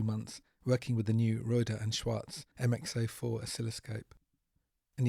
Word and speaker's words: Rohde & Schwarz: working with the new reuter and Schwartz mx04 oscilloscope and yes after a long online debate that is how one is supposed to pronounce a manufacturer name Schwartz after the first two